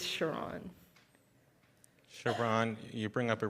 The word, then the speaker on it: Sharon: It's spelled like Sharon, but it's Sharon.